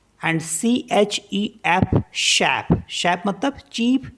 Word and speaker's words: chef: बस ये याद रखना है कि CRFL एंडिंग वर्ड्स जो होते हैं उनमें CRFL को प्रोनाउंस करते हैं, बोलते हैं, और ज़्यादातर सबको साइलेंट रखते हैं लास्ट में।